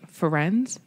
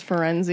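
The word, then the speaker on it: Firenze: We meet a new centaur named Ferenz. That's what I call him because that's how they say it. Jim Dale says Ferenzi.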